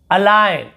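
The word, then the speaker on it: align: देखिए यहाँ पे देखिए अलाइन, अलाइन होता है संरेखित करना, लिखना, उसे हम अलाइन कहते हैं, यहाँ पे जी को नहीं पढ़ेंगे।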